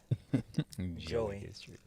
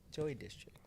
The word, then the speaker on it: Joy District: You pronounce Joy Joey. Joey District. Joy. There you go. Say it one more time. Joy District.